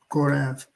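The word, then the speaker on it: Korah: Korath. To the chief musician Maschil, for the sons of Korath, as the heart painteth after the water brooks,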